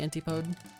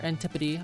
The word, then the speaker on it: Antipode: After the antipode. Or antipody, I guess, is what it's technically pronounced as.